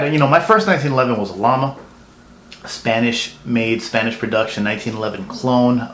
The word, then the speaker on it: Llama: I had, my first 1911 was a Llama, Spanish-made, Spanish production, 1911 clone. For those who don't know, everyone knows them as Llama. It's actually pronounced Llama, which in Spanish means flame.